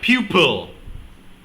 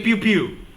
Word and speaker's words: pupil: So, alright, pupil. Pupil. Proper pronunciation, ladies and gentlemen. Don't be like me. Say pupil. Don't say pew-pew.